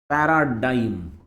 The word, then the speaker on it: paradigm: का प्रोनाउंसिएशन पे ध्यान देना। The word is पैराडाइम। जी का प्रोनाउंसिएशन नहीं होता और आई का प्रोनाउंसिएशन आई के तरह ही होता। पैराडाइम ऐसा उसका प्रोनाउंसिएशन।